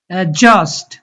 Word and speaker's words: অ্যাডজাস্ট: Village, অ্যাডজাস্ট, এখানে ডিটা silent থাকবে। অ্যাডজাস্ট, এজন্ট, virgin, indulge, revenge, wedge.